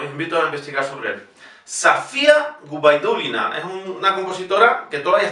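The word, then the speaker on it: Sofia Gubaidulina: Y fíjense, la O en Safía no es la sílaba tónica, por lo tanto se pronuncia igualmente A. Safía Gubaidulina.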